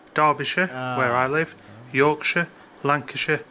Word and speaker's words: Derbyshire: don't live in middle-earth it's not shire it's so it's Derbyshire where I live Yorkshire